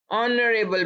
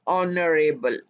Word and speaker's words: honorable: An honorable man, अब यहाँ पे h है बट इट्स साइलेंट, इसकी आवाज नहीं आ रही, इसी वजह से हमने इसके साथ an यूज किया है, इसकी आवाज on से स्टार्ट हो रही है, honorable, remember that।